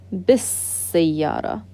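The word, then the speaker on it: بالسيارة: So in that word, we don't even pronounce the lam. As-sayyara. So if you have a letter or a word before it, it connects to that sin. Bis-sayyara.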